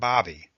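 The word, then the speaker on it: Baby: my name is Bobby the name may be spelled be ABY but it is pronounced Bobby as in hobby please just call me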